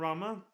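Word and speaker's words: Ramuh: Again, just like Rama. Or Ramu, however you want to pronounce it, because Gladio says Rama for some reason. Well, he's not the only one. Everybody here pronounces it Rama.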